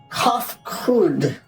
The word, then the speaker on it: Kofkud: As for nomenclature to address my individual person, I believe it would be pronounced Kofkud.